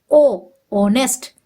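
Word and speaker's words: honest: ऑनेस्ट लिखा है H silent है और यहां उच्चारण क्या निकल रहा है ओ ऑनेस्ट इसलिए यहां पर वोल साउंड होने की वजह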